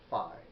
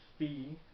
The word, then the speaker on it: phi: This second angle is called phi, or phi. I think I usually hear people say phi, but I think we pronounce that wrong. I think it's supposed to be phi, P-H-I.